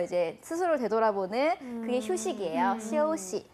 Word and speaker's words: 休息: 근데 발음하실 때요. 시우 아니고요. 시오시. 시오시. 맞아요. 시오시. 시오시. 소만이는 오 발음을 해주셔야 돼요.